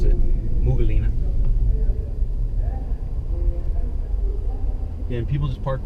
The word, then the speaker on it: Umm Ghuwailina: I live in a place called Umm Ghuwailina, but they pronounce it Umm Ghuwailina.